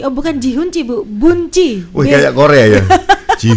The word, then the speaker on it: Boen Tjie: Oh bukan Ji Hunci Bu, Bunci. Wih kayak Korea ya. Ji Hunci. Ji Humyo. Betul atau salah ejaannya?